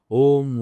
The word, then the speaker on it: ओम: वैसे इसके 3 चरण करना चाहिए। अ, ओ, म। अकारा जो है वो छोटा होना चाहिए। फिर ओ रहता है उससे बड़ा होना चाहिए।